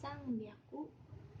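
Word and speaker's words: さんびゃく: baik-baik ya teman-teman semua kalau 300 itu dibacanya sang biaku kalau 600 dibacanya ropiaku dan dan 800 dibacanya hepiaku nah itu yang harus teman-teman ingat karena cara bacanya beda sendiri tidak sesuai polanya kemudian ee kalau pada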